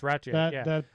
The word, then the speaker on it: Rathjen: I heard the pronunciation on on the classic. Yeah. Yeah, it's Rathjen. That doesn't make any sense to me.